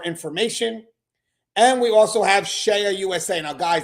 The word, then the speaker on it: CEIA: And we also have Shea USA. Now, guys, that's spelled CEIA. So Shea USA, CEIA, is the world's leading weapons, cell phone, and contraband detection system manufacturer for corrections.